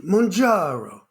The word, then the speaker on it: Mounjaro: uh and that is murro am I saying that right murro yes I say it like an Italian mro um and we have